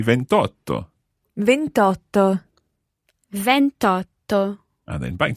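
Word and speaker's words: ventotto: Now, you'll know that the word for 8 starts with a vowel, so the same thing is going to happen as happened with 21. 28 is? 28. 28. So you don't say 28, you say 28.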